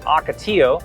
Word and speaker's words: Ocotillo: it the other one the Ocotillo it's actually pronounced Ocotillo and Ocotillo which we drove through the Ocotillo